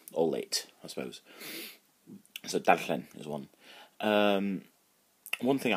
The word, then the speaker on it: darllen: So that's quite a hard word to pronounce. So dar, so D-A-R, and llen, double E, which is that, so you can like as previous lessons going la, but make blowing, so n, llen, so darllen.